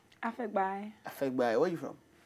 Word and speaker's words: Afegbai: How do you pronounce his own name? Afegbai.